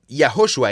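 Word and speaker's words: יהושע: Bueno, Yahoshua en hebreo. Jehoshua se puede acortar a Yoshua y luego en griego se traduce como Jesus que después pasa a los idiomas europeos.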